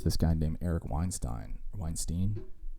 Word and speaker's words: Weinstein: guy named eric weinstein weinstein he probably wants to be called weinstein because it rhymes with um einstein and he's a mathematician